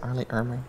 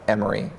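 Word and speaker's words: R. Lee Ermey: Is that how you say it, Arlie Ermy? Yeah, Arlie Ermy. Okay. Yeah. I'm saying Emery. Put an O in there for fun.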